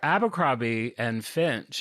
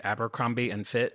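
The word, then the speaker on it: Abercrombie & Fitch: Am I saying that right? Abbercrombie and Fitch. You said it wrong in like two different ways. I've said it like 30 ways. You said Amber Krabby and Fitch.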